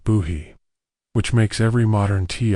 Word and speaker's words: Bohea: Lavender was a basic Chinese black tea called Boheat, pronounced like buhy, which makes every modern tea all feel like a feverdream of options compared to what the colonists had.